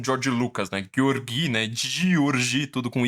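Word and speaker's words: György: Escola de Frankfurt foram beber na fonte do Georgi Lukács. Que ele escreve de um jeito parecido com George Lucas, né? Georgi, né? Georgi, tudo com Y, e Lucas, só que é com K-A-C-S no final, né?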